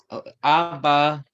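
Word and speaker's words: אבא: Remember, the aleph is silent. Abba.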